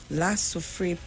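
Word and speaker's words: La Soufrière: face of an anticipated eruption of how you pronounce that's volcano lasso free yeah lasso free volcano sent vincent prime minister dr ralph gonzalez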